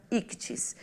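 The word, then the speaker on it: ἰχθύς: A pronúncia correta dessa palavra grega não é fácil para nós que falamos o português, já que a letra X, né, o CH, o TH, não tem uma correspondência em nosso idioma. No entanto, para facilitar, é aceita a pronúncia, né, simplificada ictis.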